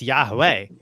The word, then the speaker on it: Yahweh: It's not Yahweh Shai, it's Yahweh.